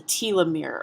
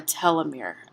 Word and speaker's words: telomere: with a chromosome is a telomere or a telomere it's pronounced both ways and these telomeres are